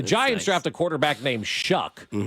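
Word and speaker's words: Shough: Shuck is how you pronounce Shuck. that name? S-H-U-C-K. Shuck. Yes. It looks like slow or something like that. S-H-L-O-U. It's spelled S-H-O-U-G-H. Show. Yeah, it's not spelled the way it sounds.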